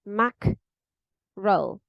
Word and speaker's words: mackerel: you will see that the pronunciation in the dictionary like the transcription would be Mac roll Mac roll with a Lo at the end and then you can